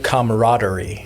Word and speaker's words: camaraderie: The camaraderie. Ooh. Isn't that a fun word? That is a fun word. It has that extra A that people aren't expecting.